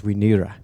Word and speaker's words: Wi Neera: And so the Maori pronunciation of that is Wi Neera, or Wiramu Neera.